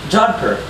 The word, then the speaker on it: jodhpur: So, Duri, Jodhpur, and Kurta both have an sound, and it's just spelled with a UR.